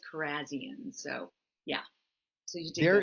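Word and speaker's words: Kharrazian: I would say it actually is Carzian.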